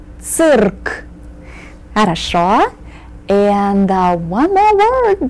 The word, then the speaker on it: цирк: Remember to roll your R's. Цирк.